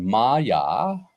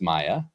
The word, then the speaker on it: Maja: But in our next headline, we had Maja, not pronounced Maya, Stark win the Women's U.S.